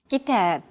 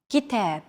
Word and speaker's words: كتاب: كتاب. كتاب. Notice that the second syllable is stressed. It's pronounced longer and louder, while the first and final syllables are shortened.